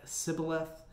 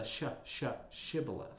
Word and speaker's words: Shibboleth: Now, the sh part of Shibboleth must have been hard for them to pronounce since they were killed for their mispronunciation. They probably said it more like Sibboleth instead of the Shibboleth.